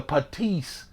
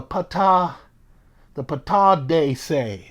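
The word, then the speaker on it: Pattadese: I've been calling it the patisse. But it's not called that. I have it written down phonetically. Instead, it is the patade say.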